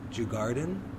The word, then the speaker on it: Djurgården: I'm gonna be terrible with the pronunciation of this. Djurgården?